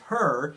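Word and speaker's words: Hur: and another person whose name is her it's spelled h-u-r and her and Aaron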